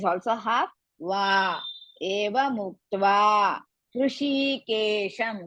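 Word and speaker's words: हृषीकेशम्: Muktva, ta is also half, va, eva muktva, Hrishikesham, because it's the end of the pada, we have to pronounce the makara.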